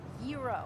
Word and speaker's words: gyro: It's pronounced gyro. Yeah, but in New York, we call them gyros.